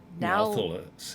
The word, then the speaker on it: Nathalos: Now this is one I pronounce wrong. Nathalos. Yeah. Thalos. I dropped that L because frankly it's hard to say.